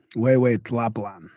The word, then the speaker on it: Tlapalan: Okay, I'm gonna have to check pronunciation of this Tlapalan, who. I should know that, but I don't. Who? Check with my assistant here. Way, Tlapalan.